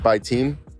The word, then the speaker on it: Bitim: Bitim is how you say his last name.